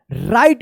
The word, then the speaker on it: write: राइट पढ़ेंगे।